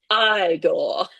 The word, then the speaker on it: Igor: Or the guy who plays Igor in Young Dr. Frankenstein. It's pronounced Igor.